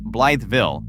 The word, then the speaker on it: Blytheville: Number one, Mississippi County, Arkansas' Blytheville, pronounced Blytheville, sits inside the top steel producing county in the entire United States.